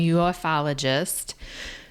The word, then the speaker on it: ufologist: Okay guys, in September, Jaime Maussan, a 70-year-old journalist and self-proclaimed ufologist, how do you say that?